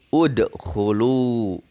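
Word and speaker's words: اُدْخُلُوا: Maka hamzah wasolnya ini ketika di awal bacaan kita beri harokat doma. Dibacanya u. Jadi udkhulu.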